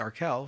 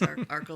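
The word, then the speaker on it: Arkell: For some reason as a university student I just oh it's Arkel right but Gites have corrected me. It's Arl Street. It's Arco like sparkle.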